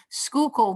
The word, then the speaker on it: Schuylkill: not from philadelphia but i believe it's called schuylkill schuylkill avenue research building you got it right okay okay thank you so schuylkill there's going to be an rfp that's going